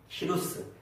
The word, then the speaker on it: 키루스: 고레스가 한글로는 한글 성경으로는 고레스라고 번역했지만 그 발음을 좀 더 비슷하게 하면 키루스, 세계사에서는 키루스 2세랍니다. 역사에 얼마나 많은 나라들이 있었지 않습니까?